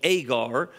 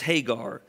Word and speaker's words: Hagar: In our passage in Galatians, she's called Agar. In the Old Testament, though, the pronunciation is Hagar.